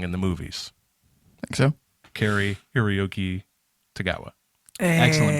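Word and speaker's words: Cary-Hiroyuki Tagawa: Kari Hiroyuki Tagawa. Excellent Hey.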